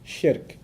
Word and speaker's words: shirk: something else to God, is called shirk. I'll spell that out for you too, S-H-I-R-K. So nothing worse for a Muslim, from his faith perspective, nothing worse than shirk. S-H-I-R-K. Sounds like Shrek, so that's easy to remember, right?